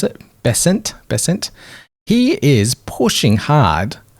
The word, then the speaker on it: Bessent: the Treasury treasur secretary uh Mr Bennett here Bennett is that how you pronounce it bessent bessent he is pushing hard for the global